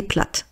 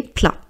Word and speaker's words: plats: Donc on dit un plat des plats. Donc c'est quelque chose de masculin. Donc on ne prononce pas le T et on ne prononce pas le s. Donc on dit pas des plates des plats.